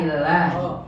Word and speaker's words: لله: فجاء في سورة الأعراف أن إبليس قال الله Bukan qala Allah, qala lillahi. قال لله Ya, bedanya kalimat Allah dengan lillah. Kalau Allah itu ada hamzah wasalnya. Kalau hamzah wasal dibuang maka dibacanya lillah.